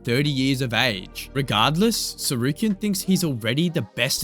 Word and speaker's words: Tsarukyan: You think I'm worried about freaking Armen Surukin with a with a with a what's it with a silent T at the beginning of his name?